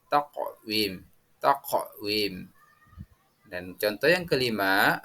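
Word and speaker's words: تقويم: Nah, selanjutnya anak-anak, yang keempat, contoh yang keempat, bacaan takwim. Cara membacanya yang benar adalah memantul atau qalqalah, yakni taqwim.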